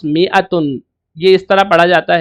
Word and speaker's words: مائة: Not that in میتن the alif is not pronounced، میتن کے اندر الف پڑھا نہیں جاتا، صرف لکھا جاتا ہے. It is pronounced میتن، یہ اس طرح پڑھا جاتا ہے.